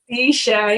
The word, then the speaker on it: Cisha: Ladies and gentlemen, is it Cisha? Cisha, yeah, you said it right.